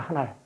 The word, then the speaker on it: 하날: 네, 함경도에서는 하늘을 하날이라고 합니다. 하날. 아래야 발음이 들어가요.